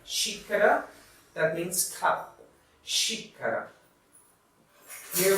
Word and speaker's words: xícara: And we have xícara. Xícara, that means cup.